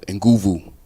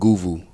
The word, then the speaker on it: Nguvu: prayers man greetings uh my name is uh enguvu brother and goovu and you spell it n-g-u-v-u and it is a west african